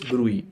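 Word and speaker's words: bruit: I have the brewery T is silent so it's Brey fine okay so that's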